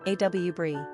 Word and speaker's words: Aubri: Quick Facts on Aubri Gender, girl Origin, American Number of syllables, 2 Ranking popularity, 849 Pronunciation, A W Brie Simple meaning, ruler of elves Characteristics of A U B R I Loving, sensitive, compassionate, family-oriented, community-minded, humanitarian, affectionate.